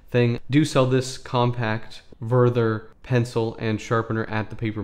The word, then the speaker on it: Wörther: of the pen now worther is a German company from Baden Baden uh or vther is probably more correct pronunciation and they make a